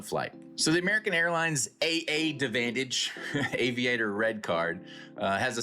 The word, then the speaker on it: AAdvantage: AAdvantage, AAdvantage. and you just silent the first A.